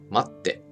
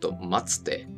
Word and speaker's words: 待って: For now, just remember that when you see the small つ, you pause ever so slightly before pronouncing the next consonant. Kippu. 待って. Not a kitsupu. And not 待つて.